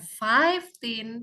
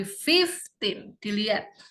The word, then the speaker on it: fifteen: 5 kalau ini yes tapi kalau ini fifteen fifteen ya bukan five team tapi fifteen dilihat ini karena guru